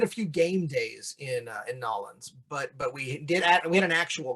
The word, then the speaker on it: New Orleans: You basically have to pronounce New Orleans like you're both drunk and you've forgotten half the letters in the alphabet.